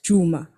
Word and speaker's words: Juma: that what inspired that juma if i'm saying it right yeah yeah now you said it right so juma basically is